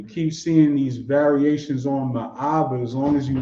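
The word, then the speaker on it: מאה: So it's still pronounced Ma'ah. Right. M-A-A-H-H. M-A-A-H, if you want to write it like that. M-A. Ma'ah. You just draw it out just enough.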